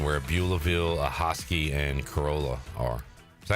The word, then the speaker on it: Corolla: want say yes Adam Corolla no cuz I I want to say Corolla might be pronounced a tad Cora Cora carala yes that sounds better now when in my